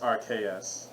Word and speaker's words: Arceus: pokemon legends rc's question rks it's rpa it's pronounced rks it's arceus um i'm just gonna really that's